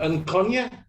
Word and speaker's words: Nkonye: how do you say your name is uh and kanye yes that's it okay yeah so i can't